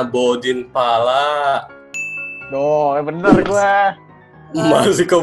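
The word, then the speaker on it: Bordin Phala: Ini dibacanya Bodin Pala.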